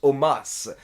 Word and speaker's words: Omos: je vous le dis, ça se prononce Omas. Et donc depuis, Michael Cole et tous les Américains l'appellent Omas.